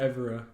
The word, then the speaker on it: Evora: I don't even know if we're pronouncing it right. Honest, what is it? It's Evora.